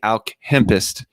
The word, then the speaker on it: Alchempist: no it's good and it's actually pronounced the alchemist so like based the